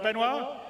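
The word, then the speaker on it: Benoit: waffling on I'd like to bring C's CTO benoir bz did I say it right benoir yeah okay good I'm always bad with French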